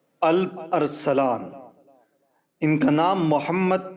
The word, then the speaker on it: الپ: نام سے جانتی ہے۔ الپ کا تلفظ آلپ بھی کیا جاتا ہے۔ یہ ترکی زبان کا